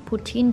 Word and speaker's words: poutine: Made some poutine tonight.